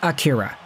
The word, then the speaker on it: Akira: Don't be pronouncing the names like he's Japanese. Let's just say Akira.